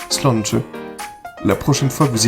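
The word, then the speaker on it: sláinte: Ça s'écrit S-L-A accent aigu I-N-T-E et ça se prononce tout simplement slanche.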